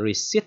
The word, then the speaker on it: receipt: Cái từ receipt này nè ha, cái chữ chữ P này bạn thấy nè, đúng không? Bạn thấy cái từ này nè, chữ P nè, nhưng cái từ P này bạn không có đọc nha.